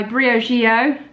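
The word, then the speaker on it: Briogeo: but this is a hair sample so by Brio Gio that's how you say it pronounce it and it's a deep conditioning mask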